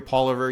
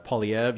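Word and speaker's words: Poilievre: it which I understand it's a French name and people pronounce it differently right you hear you hear Paul over you hear uh pauliev you hear pauliev you hear you know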